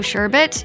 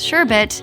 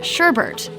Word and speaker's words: sherbet: While you can't go wrong by ordering the Rainbow Sherbet, you might go wrong when it comes to pronouncing the second word. A lot of people misspell and mispronounce sherbet as sherbet.